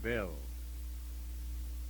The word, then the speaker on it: Beall: We one of my associates in the commission was a man named of William O. Beall, pronounced Bell.